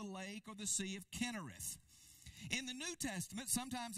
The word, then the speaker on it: Kinnereth: or the Sea of Kinnereth. Kinnereth. Sometimes you see that spelled with a C-H, pronounced with a K. Sometimes you see it spelled with a K.